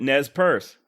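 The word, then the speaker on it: Nez Perce: three separate nes purse pronouncing it nez purse just like i did finally just to be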